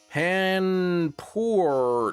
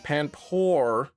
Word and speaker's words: Panpour: Panpour rhymes with whore, which I shouldn't say, but I believe Horen is to like here in German.